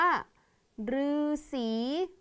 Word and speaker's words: ฤาษี: ลือ ต่อ ไป ค่ะ คำ ว่า ฤาษี ออก เสียง ตัว รือ ต่อ ไป นะ คะ